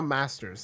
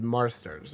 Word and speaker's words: Marsters: name Marsters I I because it's not Masters it's Marsters or or something like that right I'm I'm not mistaken in that and I just say it quickly yeah is Marsters um I say it